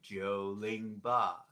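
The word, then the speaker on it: 九零八: i will say them 908 is like joe lingbah joel joel so put one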